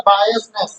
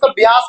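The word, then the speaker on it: bias: है डिस्क्रिमिनेशन भेदभाव होता बायस क्या होता है बी आई ए एस और बायनेस लिख बायस बोलते ब्यास मत बो बायस ठीक है बायस बायस या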